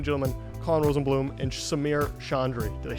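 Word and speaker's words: Chaudry: Ladies and gentlemen, Colin Rosenblum and Samir Chandri. Did I say it right? Almost. Almost. Everyone assumes there's an N in my name. I don't know why. Yeah. Chandri. Yes, Chandri.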